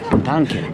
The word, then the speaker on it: Danke: Danke. Danke. Danke. Tanque. Como si dijeras tanque. Tanque de gas.